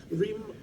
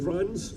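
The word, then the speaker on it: Reims: Anyway, the cars joined crews from Bad Homburg in Germany, Rheims, which I'm told is pronounced Rans in France.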